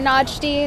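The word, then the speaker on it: Nagdy: my name is najdi that's pronounced najd spelled n-a-g-d-y i'm travis's sister um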